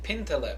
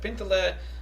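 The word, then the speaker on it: pintele: yiddish it's called a pinterest in english we'd spell it p-i-n-t-e-l-e pin teller pintler like uh like it might uh it's like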